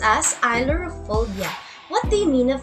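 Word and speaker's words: ailurophobia: word can you pronounce it okay it is pronounced as ilorophobia what do you mean of that look for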